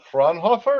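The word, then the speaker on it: Fraunhofer: So, um, just a little bit of background as far as Marcel, he did come from the Franhoffer. Did I pronounce that right?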